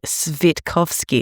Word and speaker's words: Switkowski: and I was like, surely Switkowski is not that hard to say. And then someone commented, I bet you don't even know how to say it properly. And I was like, okay. It's apparently Svitkowski. And I was like, yeah, well, come on. It's Sam Switkowski. I would not have picked that was how that name is pronounced.